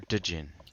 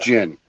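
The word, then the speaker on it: djinn: is it jane or dejin but it's pronounced gin the d is silent the d is silent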